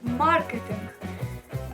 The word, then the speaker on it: маркетинг: приклад в нас буде маркетинг нахоло ставиться на літеру А ми з вами не